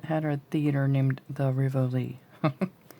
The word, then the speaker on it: Rivoli: over had a had a theater named the rivoli not revoli by rivally so that's the way i am gonna pronounce it okay uh i think it says